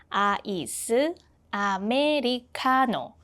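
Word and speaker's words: 아이스 아메리카노: In Korean, it becomes iced Americano. 8 syllables. Iced Americano.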